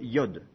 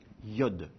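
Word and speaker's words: יוד: lettre c'est la plus petite lettre elle s'appelle Yod Yod et elle s'écrit en français elle correspond au y en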